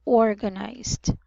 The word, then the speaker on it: organized: it's organized organized so I must um emphasize that the first syllable which is or H sorry should be pronounced as um short o which is O and then um the second syllable would be short a which is which is a Orga and the third syllable should be pronounced as um long I so it should sound I nice okay okay okay very